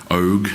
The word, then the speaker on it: Og: Og, as in Ogre, is how it's pronounced for anyone who happens to be wondering.